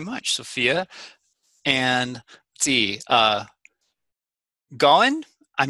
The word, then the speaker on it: Gawan: And let's see, Gowan, I'm not sure if I pronounced your name correctly. It's Gowan, but yes.